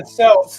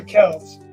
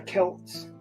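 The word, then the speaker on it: Celts: did not say that they weren't the SS they were the Kels yeah no Boston's dumb enough calling him the Celtics but yeah it's Celtic it's it's the Kelts oh I know matter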